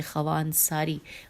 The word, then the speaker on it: خوانساری: 26 number پہ نام ہے آقا حسین ہجے کرتی ہوں. خے واو الف نون سین الف رے چھوٹی ہے. خوان ساری معروف بمحقق خوان ساری.